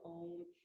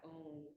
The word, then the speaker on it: Om: When each syllable is pronounced fully, it's spelled phonetically A-U-M, you should feel the